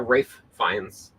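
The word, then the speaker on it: Ralph Fiennes: thought that there was a Rines not a Rafe fines I thought there was a RAF fines and a Ralph fines now I find out they're the same person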